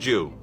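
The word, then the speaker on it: 十: Plus, in Japan, the symbol for 10 is a cross. It means heaven, and it's pronounced Jew.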